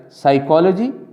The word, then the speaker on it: psychology: Notice that in words like psychology or pterodactyl, the P is not pronounced.